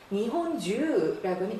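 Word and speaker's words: 日本中: 읽기도 한다고 했는데, 자, 주라고 읽으면 줄곧 전체 내내의 뜻입니다. 이찌니지주 하루 종일이란 말이죠. 니혼주라고는 일본 전체 전국을 뜻 나타내죠.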